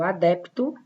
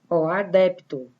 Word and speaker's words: adepto: No caso do adepto, adepto, eu pronuncio bem o P.